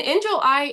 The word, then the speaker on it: Injil: Well, so, and Angel, am I pronouncing your name properly? Yes, enjoy.